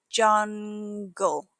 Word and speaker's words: jungle: Jungle. That soft G followed by an L makes it easy to slip up.